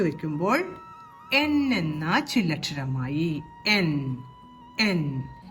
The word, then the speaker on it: ൻ: എൻ എന്ന ചില്ലക്ഷരമായി എൻ എൻ ഇംഗ്ലീഷിലെ എൻ എന്ന അക്ഷരത്തിന്റെ അതേ ഉച്ചാരണം തന്നെയാണ് ഇതിനും വരുന്നത് എൻ എൻ വരുന്ന വാക്കുകളാണ്